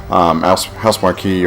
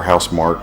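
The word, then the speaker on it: Housemarque: House Marquee or House Mark, depending on how you want to pronounce it.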